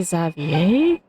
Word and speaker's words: Xavier: the way Mr zavier it's really zavier well I suppose since French name sort of has silent letters I mean we have